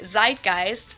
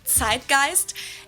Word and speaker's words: Zeitgeist: some other languages too Americans usually say Zeitgeist in German we pronounce it TI Guist and this consists of